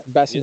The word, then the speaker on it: Bassem: guys I've got bass here Bassam yeah Bassam is my full name bass is perfectly fine